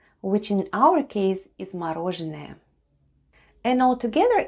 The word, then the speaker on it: мороженое: This time it's stressed and is pronounced as /o/.